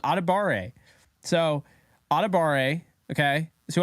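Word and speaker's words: Adebawore: Oh no, I'm saying it wrong. Adebare.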